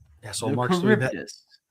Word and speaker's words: Charybdis: The Charyb- The Charybdis. Charybdis. It's a a Greek mythological monster. Okay, let's pull up an image of what that looks like. That's what I'm Charybdis.